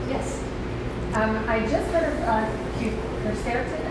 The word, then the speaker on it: quercetin: I just heard of quercetin, how do you say it? Quercetin. Quercetin. I think it's Quercitin. Yeah, last week.